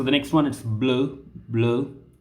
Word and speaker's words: bleu: So the next one is bleu, bleu, bleu, bleu. So the color bleu will be pronounced the same way in masculine singular, plural, feminine singular, plural.